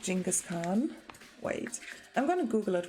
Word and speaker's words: Genghis Khan: for him i think you pronounce it with the g and genghis genghis khan genghis khan i wasn't